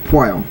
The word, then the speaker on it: Pwyll: grade twos holy Mage P I know the name is really weird it's spelled PW y l l but it's p now he he's your